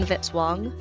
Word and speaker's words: Vitzwong: Music by Kevin Vitzwong, rhymes with hit song.